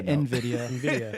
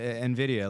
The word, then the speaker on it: NVIDIA: How do you say that? I say NVIDIA.